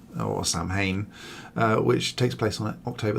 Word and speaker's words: Samhain: celebrates the time of giving thanks and obviously sowing or samhain which takes place on october the 31st which